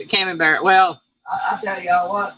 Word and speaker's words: Camembert: Okay, that's how you pronounce it, Camembert.